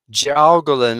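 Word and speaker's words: jiaogulan: Gowolin. And I know I had to spell that one.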